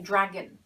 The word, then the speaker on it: dragon: next one is dragon this o is either a schwa sound or you try not to pronounce it it's a better way of putting it right when you say you're trying not to pronounce it so it's a dragon a dragon is an